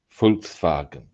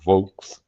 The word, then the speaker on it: Volkswagen: Folks fagen. Yep. So we see it as a VW. call it vulks and that's not quite correct really. We're mispronouncing how it's actually Yeah, you get the idea.